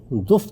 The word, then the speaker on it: دف: سامنے گیت گاؤں گی۔ یہ لفظ عربی زبان میں تو دف تلفظ کیا جاتا ہے، لیکن اردو زبان میں اس کا یہ تلفظ اب رائج ہو چکا ہے، یعنی دف بجاؤں گی اور گیت